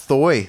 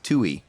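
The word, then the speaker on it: Thuy: it's Thu y how do you pronounce that first name hey Rach soy I used to all ice always think it was thigh though I try anguish Tooey Tooey Tooey like banjo banjo banjo tooie banjo kazooie we'll see if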